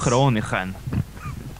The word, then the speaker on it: Groningen: It's Groningen. Groningen. Ah, Groningen. Yeah. You pronounce the NG like in English. Yeah, or like in Swedish.